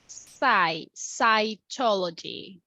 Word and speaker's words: cytology: So the pronunciation is cytology. Cytology.